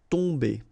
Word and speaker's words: tomber: it does mean that this combination of OM will give you the sound on. Okay, you don't pronounce the M at all, so it's really a nasal, so it goes in your nose. Tomber.